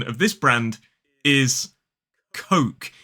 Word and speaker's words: Coke: It is Coke. Coke. K-O-K. So the correct pronunciation of this brand is Coke. It rhymes with joke and smoke.